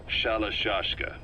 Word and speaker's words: Shalashka: The gorillas were using the name amongst themselves and by the time I got to hearing about it, pronunciation had wound up as Shalashka.